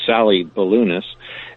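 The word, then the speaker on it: Sallie Baliunas: Sally Balunis, that's how you spell it, but you actually pronounce it Sally Balunis.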